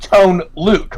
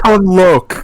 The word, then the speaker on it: Tone Loc: I think it's Tone Loc. I'm pretty sure it's Tone Loc. Yeah, Tone Loc. The bar over it, the O would give it a long O sound.